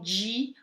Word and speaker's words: di: Atenção ao di, olha o di, imagina, não é gi, é di. Então eles têm a pronúncia do D, do nosso D, né?